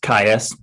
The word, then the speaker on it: Kais: i will point out my name is pronounced kais everybody gets it wrong so no big deal